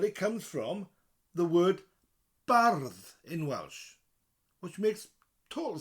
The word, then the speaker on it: bardd: The only difference is that double D, and you roll the R. So bard becomes bardd. Bardd. So go to say the word bard, but roll the R. Bardd. And then a th instead of a D.